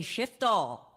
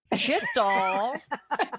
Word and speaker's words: Shiftall: It's because I want to make sure the F gets in there.